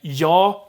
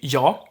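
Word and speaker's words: jag: have uh something like yaw yog so in i'm gonna go get to that but the g in yog gets dropped it's basically jaw all the time then hor i'm not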